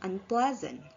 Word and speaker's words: unpleasant: For example, the stem pleasant, which the stress is on the first syllable, plus a prefix un and become unpleasant. The stress remains on the syllable ple, which means the stress does not move and the affix un does not affect the stress placement in the complex word.